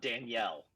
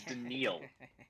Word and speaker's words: Danielle: anybody listening out there his name is not Danielle it is denal I was listening to Fox Sports Radio yesterday and they were like Danielle Hunter signed I'm like dude it you can't even say his name right it is denil Hunter right anyway anyway back